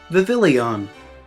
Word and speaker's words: Vivillon: Speaking of not reading carefully, Vivillon. This one is perhaps the most excusable out of them all, because there's a lot of letters in this alphabet soup, and you have to pronounce it kinda French.